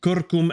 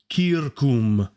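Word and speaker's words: circum: from our latinus uh you are pronouncing kurkum as kurkum that's funny i read that uh i need to pronounce it as kirkum kirkum and i guess that makes sense c i r c u m uh c u m uh c i r okay kirkum okay perfect great good feedback thank you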